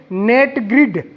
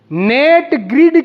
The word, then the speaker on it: NATGRID: तो पहले पोर्टल का आप नाम लिखेंगे नेट ग्रिड, NATGRID, नेट ग्रिड। नाम सुने आप लोग, नेट ग्रिड। नेट, नेट means जाल नहीं होता, नेट। तो इसमें स्पेलिंग जो है वो है NATGRID, नेट ग्रिड।